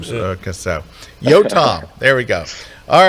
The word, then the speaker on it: Yotam: And also, I'm going to call you from now on Yotam. Am I saying it right now? Yeah. How did you call me before? Yodum. Yodum. It's the same.